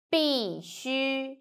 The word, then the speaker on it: 必须: So, C, U, 须, 必须. So pay attention, it's not U, it's U. 必须, 必须.